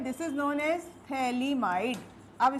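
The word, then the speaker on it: phthalimide: ये जो कंपाउंड है, this is known as थैलीमाइड। अब स्पेलिंग ध्यान देना थैली आई एम आई डी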